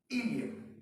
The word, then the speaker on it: ileum: एक बात और गौर करिएगा, स्पेलिंग पढ़ते वक्त इलियम की स्पेलिंग जरूर देखिएगा, ILEUM। फिर से सुने, ILEUM, इलियम। इलियम जब हम कहते हैं और स्पेलिंग में बोलते हैं EUM तो that is the part of small intestine.